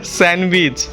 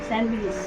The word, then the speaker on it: sandwich: অল্প একটু ভাত খাইছি দুপুরে ফার রুটি আছে স্যান্ডেইচ মানে স্যান্ডেস স্যান্ডেইস না বলো স্যান্ডউইচ স্যান্ডউইচ হ্যাঁ স্যান্ডিচ আবার কি স্যান্ডউইচ স্যান্ডব্রিস না বলো স্যান্ডউইচ বলো ঠিক করে উচ্চারণ